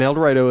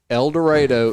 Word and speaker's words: El Dorado: the stage it says el dorado is pronounced like tornado because you get